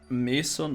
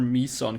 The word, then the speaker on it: meson: realized that, you know, I said meson or meson cannons, right? And I actually looked it up, and it seems like both is accepted. You can pronounce it both ways, and it's still fine.